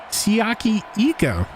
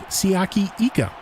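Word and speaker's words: Siaki Ika: Queen lenroy Harrison Phillips siaki eco we've been saying his name wrong for the first two games siyaki Ika all with two Bradberry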